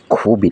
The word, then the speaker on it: Qubit: นี้ ก็ ไป เจอ qubit อ่าน ว่า คบิ หรือ qubit เป็น เหรียญ ที่ ต้อง